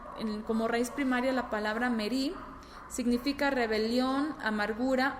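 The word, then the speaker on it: מרי: Pero existe otra palabra, y esto es algo bastante interesante porque existe otra palabra que se pronuncia igual, pero se escribe de distinta forma, ¿sí?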